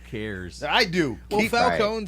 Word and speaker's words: Falcone: Cobblepot, and the criminal guy's name is Falcone. So what? Not Falcon. So what? Falcon. Who cares? I do. Well, Keep- Falcone sounds more mafian than Falcon.